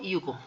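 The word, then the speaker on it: ゆく: También tiene dos pronunciaciones, el verbo iku y también como yuku. Recordemos que yuku, la letra Y se pronuncia como I latina.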